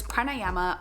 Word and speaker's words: pranayama: and it is to practice pranayama or pranayam there are different pronunciations I absolutely love breath